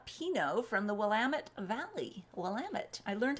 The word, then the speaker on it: Willamette: Willamette. I learned how to pronounce it. It's like, damn it, it's from the Willamette. I think. It's not Willamette, it's Willamette.